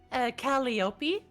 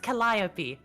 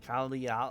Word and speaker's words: Calliope: I used to pronounce it like Calliope, but then everybody was like, no, you're doing it wrong. It's Calliope. And nobody corrected me. Calliope. Yeah, like the instrument.